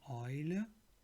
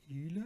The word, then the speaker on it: Eule: Eimer meaning bucket, die Eule meaning owl, Europa, Europe, das Euter meaning udder. So if you see EU, it's written but it sounds like OI. Oil, not Eule, Eule is false, oil, the oil.